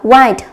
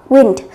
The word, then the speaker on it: wind: dưới từ wind thì chúng ta có thể đọc là wind hoặc wind tùy thuộc vào từng ngữ cảnh.